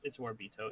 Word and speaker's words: Itsuwaribito: That's how you spell it. It's Warbito.